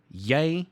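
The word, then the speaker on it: jy: like that is i yay pronounced like that is you owns pronounced like that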